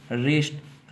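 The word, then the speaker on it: wrist: कि डब्लू के साथ डब्लू के बाद अगर आ रहा था हो है तो डब्लू को साइलेंट कर गया था है ठीक है जैसे इसको बोलेंगे रॉन्ग अच्छा ठीक है इसको बोलेंगे रिंग रिस्ट राइट टू यहां पर डब्लू का या साइलेंट हो जाएगा डब्लू के बाद यह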